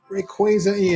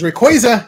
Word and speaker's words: Rayquaza: the the character say Rayquaza like Rayquaza is that how you say it but then I thought about it like oh I guess that's true because its name is Ray and quazar so yeah